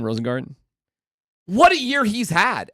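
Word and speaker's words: Rosengarten: right yep that how you say his name rosengarden what a year he's had as the right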